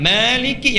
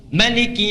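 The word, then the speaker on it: مالك: sampai arrahmanirrahim itu sama Maliki yaumiddin bisa dibaca dengan dua cara panjang Maliki yang kita baca bisa pendek riwayat qun Maliki yaumiddin boleh ya ilmunya di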